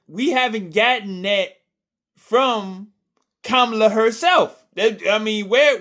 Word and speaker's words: Kamala: CA herself Kamala herself I better say her name right kamla before I get roasted in the comments but anyway um kamla